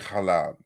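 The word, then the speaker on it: حلب: And you can see the various different pronunciations of the term, like in Arabic halab, in Turkish halep, in the earlier it was halep, halebon.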